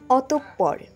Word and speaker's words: অতঃপর: অনেকেই উচ্চারণ করে থাকেন অতঃপর, সঠিক উচ্চারণ অতঃপর।